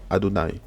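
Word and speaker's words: יהוה: Donc le nom sacré de Dieu, imprononçable, mais en hébreu, en fait, ça se lit Adonai.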